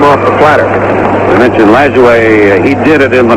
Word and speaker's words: Lajoie: And I played against their great-grandson, who called himself Nap LaJoie. He pronounced it LaJoie rather than the French version.